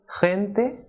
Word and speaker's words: gente: But when it comes before the vowels E and I, it is strongly aspirated, like H. For example, gente, gimnasia, Argentina.